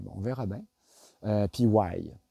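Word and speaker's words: wai: Why ?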